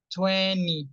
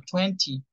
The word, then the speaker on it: twenty: pronunciación observaciones Algunos números tienen dos pronunciaciones no sé si eso lo analizaron por ejemplo el veinte en inglés americano le decimos training Twenty si no es como si no estuviera la techuén y en inglés británico lo decimos tal cual está escrito Twenty Twenty Twenty Twenty las dos okay